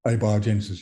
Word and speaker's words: abiogenesis: to I'm not sure if I'm going to pronounce this correct correctly ABIA Genesis a biogenesis yeah abiogenesis and you make the distinction between